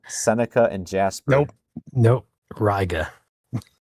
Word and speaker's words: Riga: Or is that pronounced? That's Macon. Wrong. Macon. Yeah, that one I know is different. Riga, Seneca, and Jasper. Nope. Riga.